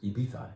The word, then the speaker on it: Ibiza: dry mawazia from ibiza you can say ibiza or whatever that's ibiza is the appropriate pronunciation all right now let's